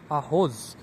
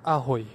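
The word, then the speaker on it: Ahoj: আমাদের শুরুতেই মনে হবে এটা আহই না, ওটা হচ্ছে আহোজ। বাট ইন চেক ল্যাঙ্গুয়েজ ওরা আসলে জেরে অনেক সময় ম্যাক্সিমাম টাইমে আয়ের মতো উচ্চারণ করে, তো ওটা হয় আহই।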